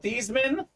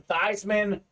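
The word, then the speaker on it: Theismann: Stephen in college uh his name was actually pronounced Joe these men they change it to Theisman Notre Dame campaign Forum Theisman for the house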